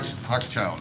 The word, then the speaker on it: Hochschild: And we're going to pick up with item number 9 with Hochschild, if I'm pronouncing that correctly. Hochschild. Mr. Owen. Hochschild is how you pronounce it.